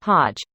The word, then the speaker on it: Hajj: hat in hatch and it's not really ach at the end but sounds more like hodge it's hug with aj like jim or gyro ha like huh